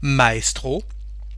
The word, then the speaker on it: maestro: here is e nus when we have the letter letter a and the letter e actually it's a foreign word and we keep the pronunciation of the foreign word with the French accent for example Maestro so